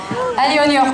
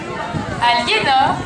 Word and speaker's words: Aliénor: Alionior coiffier. J'ai bien prononcé. Oh. Aliénor.